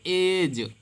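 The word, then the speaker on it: edge: इसको इडेज नहीं पढ़ेंगे, इडेज, क्योंकि जी के पहले अगर डी आता है तो आपका डी साइलेंट हो जाता है। हमेशा का नियम है, कहीं भी अगर आपको डी के पहले, डी के बाद जी आया है तो डी साइलेंट हो जाएगा।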